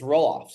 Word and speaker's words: Roelofs: Is that how you say it's Roelofs, yeah?